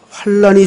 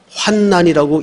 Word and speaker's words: 환난: 아멘 아멘 자 오늘은 환란이 주는 복 제가 지금 발음을 사실은 잘못했습니다 성경에는 어 환난이라는 붙으면 앞에 환이라 읽는게 맞아요 그런데 뒤에 난자가 붙으면 어 학적인 발음상 환난이라고 잃는게 맞습니다 근데 이제 우리가 습관이